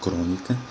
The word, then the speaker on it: crônica: Da mesma forma, a palavra crônica, que você vê que a separação dela se dá com 3 sílabas, e a sílaba tônica é a antepenúltima.